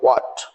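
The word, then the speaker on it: what: जैसे लिखा है वाट, डब्ल्यू एच ए टी, यह एच साइलेंट है तब इसको बोलो वाट।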